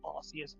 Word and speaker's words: Arceus: There isn't a correct pronunciation because it's translated, and generally speaking, Arceus is considered more correct due to it being closer to a Latin pronunciation, and considering Arceus' origin